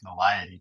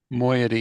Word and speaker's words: moiety: I mean, there's always moiety, but no one likes By the way, that.